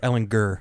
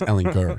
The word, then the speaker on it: Ehlinger: Hard G, over fellas. Ehlinger. Yeah, Hard G. Ehlinger. Hard G. Yeah, he did that, and I just it's Ehlinger.